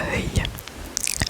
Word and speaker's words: œil: En fait, tous les mots en œil, œil, écureuil, accueil, fauteuil, cercueil, ça se prononce pareil à la fin. Œil, c'est le même son.